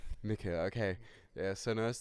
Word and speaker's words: Mikke: You can pronounce me Mikke. My family is of German origin, and the emblem is Korwin. It's a Hungarian emblem, but the name is Mikke. Umlaut CKE. Mikke, okay.